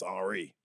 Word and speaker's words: Henri: It's Henry with an I, so I assume it is Henri.